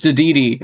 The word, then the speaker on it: Dedede: Oh, it's Dedede, actually. That's how it's said. King Dedede. That's how you say it, not Dedede.